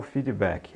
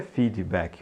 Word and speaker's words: feedback: vou te dar o feedback não diga feedback ó lá não pronuncia esse D como se tivesse um I nem o k diga feedback feedback quando você tem apagão